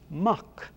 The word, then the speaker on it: Mac: name to a mac because in irish it's muck it is preceded by